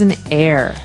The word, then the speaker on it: heir: What is an heir? Now, if you notice the H is silent there.